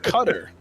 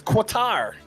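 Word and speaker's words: Qatar: called you won't know in the country of cutter that's spelled q-a-t-a-r that's quotar cutter what there's no c to be honest we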